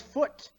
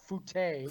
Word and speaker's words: Foot: So Foot. Hello, who works with our friend Jim Gillis. I'm assuming that's foot and not fute. Fute. Yes. How you doing? Which rhymes with flute.